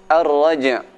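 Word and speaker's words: الرجع: Ar-raja', suara jim dibaca dengan kuat qalqalahnya.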